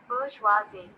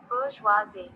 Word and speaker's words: bourgeoisie: Now it will do the pronunciation for us. We will locate bourgeoisie, फिर सुने, bourgeoisie, bourgeoisie. फिर सुने, bourgeoisie, yes.